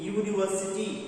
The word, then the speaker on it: university: you pronounce as yu, university, yu. So again, when we pronounce this word university, automatically we recognize the word like U, Y and U. So Y is considered as a consonant sound.